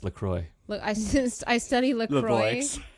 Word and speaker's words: La Croix: I study Lavox, the voice. It's pronounced La Croix.